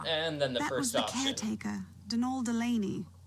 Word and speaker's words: Donal: Then the first option and then the first option Dol Delaney, not Donald, mind you. There's no D at the end, so it's pronounced.